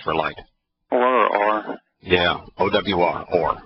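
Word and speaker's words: אור: Or. Yeah, O-W-R, or, right? Or is the way we spell it and pronounce it.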